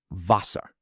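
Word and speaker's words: Wasser: Water in German is vasa.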